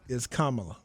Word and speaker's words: Kamala: So I do want to make a slight correction because I was joking at first, but just so we know, it's Kamala. That's how you pronounce my it.